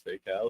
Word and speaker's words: Faycal: Faycal, pronounced Faycal. Either way, you could pronounce it as Faycal if you want.